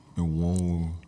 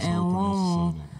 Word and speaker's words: Enwonwu: late celebrated Nigerian creative artist, Professor Benedict Chukwukadibia Enwonwu. Good try. What was up about that? Enwonwu. Enwonwu.